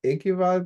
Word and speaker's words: Ekival: I think it's Ekival, Boaz. Is that right? Yeah, that's right.